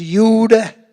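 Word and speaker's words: Jude: If you were in Germany, it was Yud.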